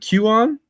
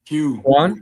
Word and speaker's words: Quan: But and Q, is it Q on? I don't want to pronounce it incorrectly. Quan. What up. Quan. Sorry about that, Quan.